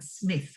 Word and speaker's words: Psmith: Wrykyn and Mike and Psmith with the silent P yes Psmith yes yes